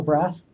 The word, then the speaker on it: Brasse: Braze is how you pronounce his last name, right? E is silent, so Brass.